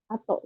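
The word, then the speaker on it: 後: Kalau misalkan kanjinya gitu, kayak gini aja ya, gitu. Berdiri sendiri kayak gini aja, ini dibacanya atau. Tapi kalau misalkan kanji ini di belakangnya ada tulisan ro, itu baru dibaca usi ro, usi ro gitu. Tapi kalau misalkan kanji ini aja gitu berdiri sendiri itu baru dibacanya atau gitu ya.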